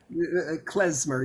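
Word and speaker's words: Khmer: the sense that um and excuse my pronunciation kmer music the traditional style is that pronounced correctly kmer kmer yeah yesmer so I I do apologize for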